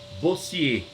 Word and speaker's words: Bossuet: Com a República, e o outro menino é Jacques Bossier. B-O Bo S-S-U-E-T. Vou repetir. B-O-S-S-U-E-T. Bossuet. Mas eu pronuncio Bossier.